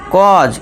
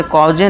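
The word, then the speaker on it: cause: जैसे कि example author कॉज इसे कॉजे नहीं कॉज जैसे फौल्ट।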